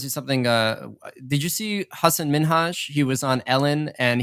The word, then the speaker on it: Hasan Minhaj: Ellen DeGeneres he was like no one's actually Husson min Hajj and he was telling her how to say